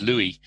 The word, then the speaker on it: Louis: Just for clarity, my name is Louis. Sorry. I know you Americans tend to pronounce it Louis. Yeah, we do that. That's our fault. Sorry. It's a French name, and they don't pronounce the S in the end.